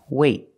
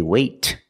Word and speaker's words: wait: you have a vowel then we do a stop T that means you put your tongue up in the T position but you don't release example wait wait I don't say wait I don't release the T it's a